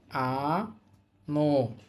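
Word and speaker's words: あのう: আমাদের পরবর্তী শব্দ হচ্ছে আ ন আনো এখানে উটা উচ্চারণ হবে না।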